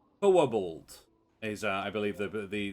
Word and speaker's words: Quobald: Um, the way that they pronounce this name would imply that there is a W somewhere in it. Wo bald.